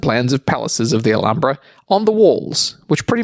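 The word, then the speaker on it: Alhambra: how to pronounce it it's a Spanish word so the H is silent alumbra but it's la alumbra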